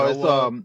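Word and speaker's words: Shōwa: I don't know if it's Kiryu or Heisei or No, Showa. it's Showa. Showa.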